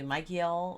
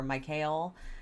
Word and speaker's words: Michael: name uh you know i think technically the biblical michael should be you know pronounced more like israel uh so you can hear that israel you know uh should be mikeyel or mikhail uh but this is